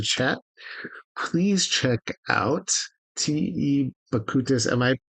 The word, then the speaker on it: Bakutis: Bakutis. Am I pronouncing your last name properly? Bakutis.